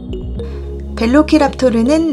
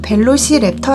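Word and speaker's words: Velociraptor: 육식 공룡 입니다 2 벨로 키락 토리는 라틴어 씩 발음 이구요 영어식 발음으로는 벨로시랩터 라고도 합니다 벨로 키락 토르는 발생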